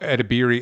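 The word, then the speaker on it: Edebiri: one yeah um ao edibieri is the actor she plays sydney what's her name ao at biri on imdb my stupid pronunciation is edibieri is what it looks like it's pronounced i do apologize because i'm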